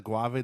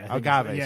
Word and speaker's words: agave: The more it's made out of the guave, the less of a hangover. Agave. Sorry, I'm saying it wrong.